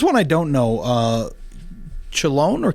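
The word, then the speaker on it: Chelone: really pretty here's one I don't know uh chillon or kilone yeah interesting let's do a podcast sometimes on pronunciations of plants because that is fun you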